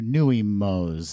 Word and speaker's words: Nuimos: that's going around right now yes relatively new nuimos is that what nuimos that's right that's i think that's how they're pronounced n-u-i-capital m-o i bought the stitch and